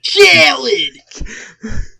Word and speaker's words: Khaled: Major Key by DJ Khaled. What the fuck? No. You're saying it wrong. It's DJ Khaled.